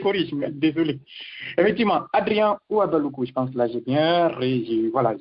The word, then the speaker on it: Houabaloukou: C'est Ouabalakou. Comme excusez-moi, désolé. On n'est pas Ouabalakou, effectivement. Vous avez parfaitement raison. Je corrige, mais désolé. Effectivement, Adrien Ouabalakou, je pense que là j'ai réussi à bien prononcer votre nom.